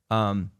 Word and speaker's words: Esmé: Esmé Agdal-Paul, beautiful little baby. I miss her already. How many syllables is the name? 2.